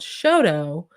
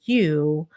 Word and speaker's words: Chateau: That's how I pronounce it because there's another town called Shoto, which is spelled Chateau, and it should be chateau, which is the French word for castle or palace. But it's not. It's Shoto. So it's like the T is a D, and you just kind